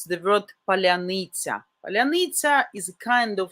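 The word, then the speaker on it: паляниця: They can say palanitsa, palyanytsia, but not this specific Ukrainian way, palyanytsia. Very soft.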